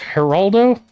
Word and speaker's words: Geraldo: And it's pronounced Geraldo? Oh, okay. Makes sense. Yeah, Geraldo.